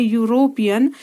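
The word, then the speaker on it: European: क्योंकि जब हम इसको प्रोनाउंस कर रहे हैं यूरोपियन, तो इसमें यह हमारा व्यंजन आ रहा है, इसलिए यहाँ पर ए हमारा क्या होगा?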